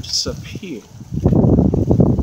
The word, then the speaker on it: Sapir: Some of you may want to read this book by the author Warren Murphy and Richard Sapir. That's the correct pronunciation of their names.